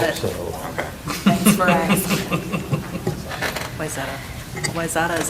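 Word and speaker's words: Wayzata: Is staff now ready for, I've been corrected on the pronunciation of, wait. Wyzetta. Wyzetta? Wyzetta. You got it. Okay. Thanks for asking. Wyzetta.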